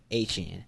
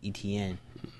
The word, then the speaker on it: Etienne: So the correct pronunciation is Etienne, not Etienne.